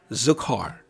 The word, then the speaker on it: Zachor: honor to the Jewish observance known as Shabbat zakar Shabbat zakar spelled Z is in zebra a C is in Charlie h o r it's pronounced zukar this is a special Shabbat it's special for